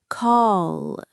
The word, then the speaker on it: call: Call. It's a much heavier sound. It's not kala with a light flicking L at the end. It's call.